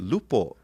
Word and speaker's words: lupo: did lupo naka. Lupo. Sounds like loophole.